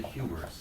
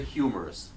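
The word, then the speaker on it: humerus: and this is the humor you can see why they call this bone the funny bone cuz it kind of sounds like the word humorous and it's pronounced the same way humorous except the word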